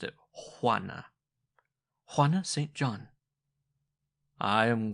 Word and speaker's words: Juana: "Juana," she said, and she pronounced it Juana.